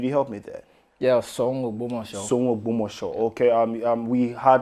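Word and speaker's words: Soun Ogbomoso: I'm not sure I'm getting the pronunciation right. Could you help me there? Yeah, Song Ogbomosho.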